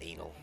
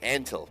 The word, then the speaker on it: Antal: It's not It's not Anal. They wouldn't make his name Anal. And Antal.